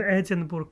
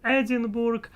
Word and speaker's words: Edinburgh: I was pronouncing in my lovely Russian way. Edinburgh. That's how this word must be pronounced in my mind, at least. And anyway, it's not right, as I see. In English, it is different.